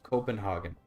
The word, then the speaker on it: Copenhagen: name for copenhaven so just pronounce it copen Copenhagen do not do the weird thing where you try to make the G sound German I don't try to